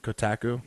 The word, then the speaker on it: Kotaku: this is a I don't know how to pronounce that kotaku yeah kotaku k ot aku calm and they've